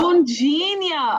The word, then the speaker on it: Loune-Djenia: I know a lot of people pronounce it that way, but it's Loune-Djenia. I know. Loune-Djenia. Oh my gosh. Loune-Djenia. The D is silent.